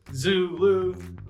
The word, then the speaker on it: Zulu: Think about it this way, you got a zoo and a zookeeper named Lou, Zulu.